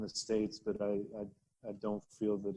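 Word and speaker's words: [ai]: So, yeah, it's pronounced I, like first person singular, or the ocular organ that you see with, or the Chinese or Japanese word for love.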